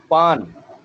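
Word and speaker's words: ban: ये जो ए होता है ना, ये अलिफ मद्दा के स्टाइल में प्रोनाउंस होता है। जो ए होता है ओपन माउथ साउंड है इसकी, तो इसको अलिफ मद्दा वाले सेंस में, उस स्टाइल में हम इसको प्रोनाउंस करते हैं। अब ए एन है ना, तो इसको बोलेंगे आन, ठीक है। एन नहीं बोलेंगे, आन बोलेंगे चाइनीज में। तो ये होगा बी ए एन, पान।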